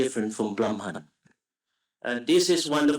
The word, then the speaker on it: Brahman: That is Brahman.